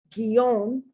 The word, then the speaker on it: guion: So it's guero, gueto, guerrero, guiar, guion, guisar. Okay, so the U is not pronounced. It's only there to tell you that you pronounce the G like G, G, G.